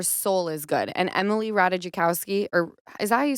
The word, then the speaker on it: Ratajkowski: tell that her soul is good and Emily ratajikowski or is that you say her name Ratajkowski yes I don't know emirata was saying that